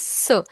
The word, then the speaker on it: ce: CE is pronounced as sir.